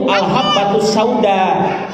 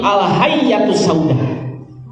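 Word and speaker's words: الحبة السوداء: Tapi ini orang dia bacanya itu bukan al-habbatus sauda, tapi al-hayyatus sauda.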